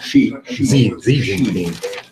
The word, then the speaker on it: Xi Jinping: How do you pronounce China's Xi Jinping? Xi Jinping.